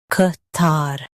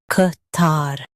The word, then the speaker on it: Qatar: Ka tar, Qatar Ka tar, Qatar In US, stress tar and say ka. In UK, use cut.